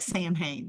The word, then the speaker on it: Samhain: Samhain is how it's pronounced usually. And it looks like Sam Hain, but it's Samhain.